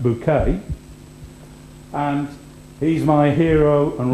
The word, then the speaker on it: Bucket: of the aspirational hin bucket pronounced bouquet and he's my hero